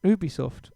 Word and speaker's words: Ubisoft: the safety line with all of their stuff ubisoft yeah that's how you say it as well isn't it ubisoft ubisoft yeah it's weird some people pronounce that weird well ubisoft yeah you be soft i don't maybe for you my feelings nice